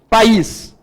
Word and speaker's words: País: País. O I é a vogal, certinho? A vogal tônica, tá? Então, aqui eu tenho vogal tônica, o is, sílaba tônica é o is.